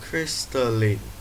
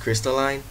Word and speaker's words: Crystalline: crystal Lee wait it's pronounced crystalline oh I didn't know that hello everyone welcome